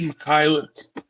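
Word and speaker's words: Mykhailiuk: Mikhailuk. Yeah. For those that don't know how to pronounce it.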